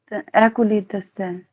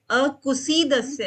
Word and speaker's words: अकुसीदस्य: अकुलीद अकुलीदस्य। नहीं, ये गलत हो रहा है आपका। अकुसीदस्य है। अकुशीत। हाँ, ये वर्ड आपका गलत आप प्रोनाउंस कर रहे हो।